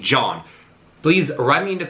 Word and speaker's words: Gjon: returning from last year guyon or somewhere i read that his name is pronounced like the english name john please write me in